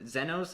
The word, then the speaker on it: Xenos: to the dungeons and we find the zenos that's how they pronounce it yeah i mean i it's like gonna go with xenos yeah good news is